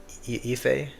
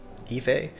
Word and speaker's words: Aoife: AOIFE is pronounced Ife. Ife.